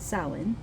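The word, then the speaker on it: Samhain: of the longest night of the year sin pronounced sin they believed that there was a misty Veil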